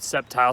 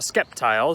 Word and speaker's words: Sceptile: Also, I called Sceptile Skeptile, so those are two Pokemon I could for sure say I always pronounced wrong early in my years.